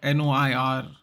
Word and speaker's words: noir: Yeah, so that's what Noir is. Noir. It's pronounced, it's French.